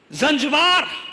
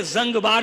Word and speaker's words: زنجبار: ہے تمہیں بتاتا ہوں۔ زنجبار، جسے زنگبار بھی کہا جاتا ہے، کیونکہ آپ جانتے ہیں نا عربی میں تلفظ الگ الگ ہیں، جیسے مصر میں جیم کو گاف کہہ دیا جاتا ہے، گیلانی اور جیلانی دونوں ہیں نا، وہی ہے مسئلہ، سمجھ گئے آپ؟ وہی ایک ہی بات وہی ہے، گیلانی جیلانی، یہ ہے لہجے کا فرق۔ یہ کس کا فرق ہے؟